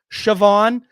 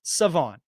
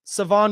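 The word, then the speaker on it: Shavon: probably read it as Shon but the H is silent it's Savon silent h Savon Rell Jr East Carolina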